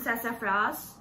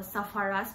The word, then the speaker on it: Sassafras: is um you know i used to pronounce the sapphires as uh safaris before i never read the spelling and i realized how dumb i was and later i realized that it is spelled as s-a-s-s-a-f-r-a-s sfrs i guess i'm pronouncing it correctly so yeah i got